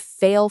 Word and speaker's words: fail: The L at the end of fail can be tricky. It is a dark L. Your tongue stays down a bit.